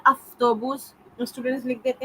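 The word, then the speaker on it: автобус: एक जो common mistake student करते हैं वा का फा बनाना, जहाँ पढ़ा लिखा जाता है वा, पढ़ा जाता है फा। जाफ्त्रा, जाफ्त्रा, अफ्तोबूस, पढ़ने में फा आता है अफ्तोबूस, स्टूडेंट्स लिख देते हैं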